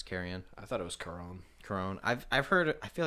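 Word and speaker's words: Charon: name right it's carrion I thought it was coron I've I've heard I feel like I've heard it pronounced both ways however it is coron they kill him and I'll do that hurt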